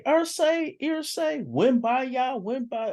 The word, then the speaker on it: Irsay: you know his name, Ursay. You gotta stop mispronouncing names. Okay, Irsay, win by y'all, win by.